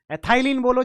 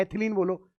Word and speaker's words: एथिलीन: Ethylene लिख रहा होगा, एथिलीन या इथाइलिन हार्मोन, एथाइलिन बोलो चाहे एथिलीन बोलो, वो तो प्रोनाउंसिएशन है, कोई दिक्कत नहीं है।